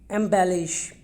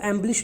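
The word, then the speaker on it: embellish: Minute, yes, इसके बाद एम्बेलिश। ठीक है, इसको एम्बलिश नहीं बोलना है, इसको क्या बोलेंगे एम्बेलिश।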